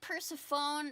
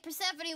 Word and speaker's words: Persephone: Okay, so Zeus and Demeter had a kid named Persephone. Sephone. It looks like Persephone.